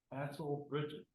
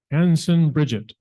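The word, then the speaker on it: Hanson Bridgett: You got the name wrong. Hansel Bridges. Hanson. Hanson Bridges. Bridget. Like Bridget Bardot. Hanson Bridget.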